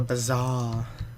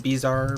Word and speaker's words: bazaar: It's kind of a bazaar. Is that how you pronounce it? Bazaar, not bizarre, but bazaar.